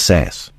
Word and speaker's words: SaaS: service modules, also known, is that pronounced as SaaS, sir? It is. Can you share with us what exactly is SaaS?